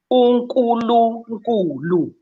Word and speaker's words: Unkulunkulu: How do you pronounce it again? Unkulunkulu.